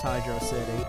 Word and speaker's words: Hydrocity: here we are at Hydro City Zone which how I always pronounced it even though they kind of it's like they put it as one word but I still pronounce it as Hydro City I don't pronounce it